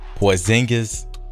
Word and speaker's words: Porzingis: And if you've seen my previous video, I showed the ratings for, I know how to pronounce his name now, Porzingis.